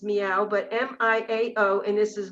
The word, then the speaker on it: Miao: and it's called mistress m-i-a-o which we pronounce is meow but m-i-a-o and this